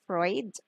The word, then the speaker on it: Freud: is founded by sigmund freud okay this is pronounced as freud which is based on the theory of unconscious